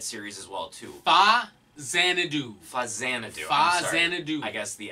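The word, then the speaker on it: Faxanadu: Fazanadu. Fazanadu. I guess the X doesn't. It's not Fexanadu. Well, it's Fazanadu. Fazanadu. Like the movie Xanadu. Xanadu, but like a fa in front of it.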